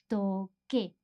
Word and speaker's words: toqué: Because if we didn't change the C to QU, it would be toce with that sound, the TH sound. So, toqué. In order for us to maintain the same pronunciation as the infinitive, we need to change